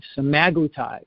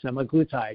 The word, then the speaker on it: semaglutide: medications out there today semaglutide or semaglutide you can pronounce it either way what are those